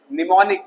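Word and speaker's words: mnemonic: एम, निमोनिक, am silent, संक्षिप्त रूप या स्मृति।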